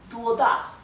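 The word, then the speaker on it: 多大: Acá tenemos en la U, en la primera sílaba, tenemos el tono alto, duo, ¿sí? Y la segunda sílaba es el tono que cae, da, ¿sí?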